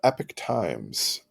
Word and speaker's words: Epoch Times: Justice is looking into a publication called The Epic Times it's uh pronounced epic times but it's spelled EPO C